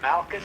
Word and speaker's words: Malchus: Malchus. Is that how you say it? Malcus, guys.